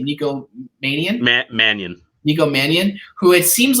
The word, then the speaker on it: Mannion: his last name Nikko manian Matt Mannion Nico Mannion who it seems like is like destined to